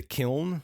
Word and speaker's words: Kyln: So all 4 of them get sent to the kiln, which is spelled like Kyln, and autocorrect kept changing it to Kyle, which was annoying.